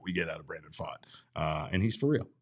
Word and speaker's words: Pfaadt: we know what we get out of Brandon fought uh and he's for real he is uh